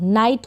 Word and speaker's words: night: नाइट का मतलब है रात। तो क्लियर हो गया। IGH को यहाँ पर आप प्रोनाउंस कर रहे हैं आई, तो इन स्पेलिंग्स की आप प्रैक्टिस करें।